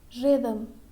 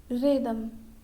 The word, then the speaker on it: rhythm: Now, letter H is silent when it begins with an RH. Okay? For example, rhythm, rhythm, rhyme, rhyme, rhinoceros, rhinoceros.